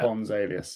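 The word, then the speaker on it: Pons Aelius: Like it's Latin, so I think it is Ponce. Is it Latin? Yeah. It is, yeah. Pons Alias, yeah.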